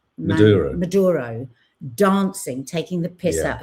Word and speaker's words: Maduro: close to Trump that he was enraged by Mando Mandero. Am I saying it right? Manduro Maduro dancing taking the piss out of his dancing